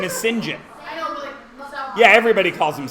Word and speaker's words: St. John: a French name but it's spelt English but pronounced French because my son's name is that but it's pronounced Sinjin because it's a French name no his name is Sinjin yeah everybody calls him st.